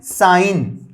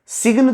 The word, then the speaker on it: sign: देखिए इसका एग्जांपल हम आपको बताते हैं, SIGN साइन, सिग्न तो इसको नहीं पढ़ते हैं, साइन पढ़ते हैं, SIGN साइन।